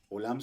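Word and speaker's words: עולם: en la torá Entonces tenemos la ain que es muda Y dónde está la vocal a la izquierda aquí es y cuál vocal es esa la y aquí decimos o oam así es olam significa universo mundo eterno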